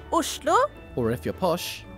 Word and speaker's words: Oslo: In Norwegian, it's pronounced Oslo, or if you're posh, Oslo.